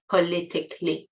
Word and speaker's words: politically: uh word politics there is an adverb form politically obviously so for example I try to avoid po politically sensitive topics notice again the pronunciation c a l y is not K it's CLE politically so we had economically historically classically and now